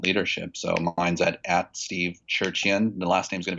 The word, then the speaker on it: Tcherchian: So mine's at Steve Tcherchian. The last name's going to be hard to spell, but it's TCHERCHIAN. the T is silent in Armenian.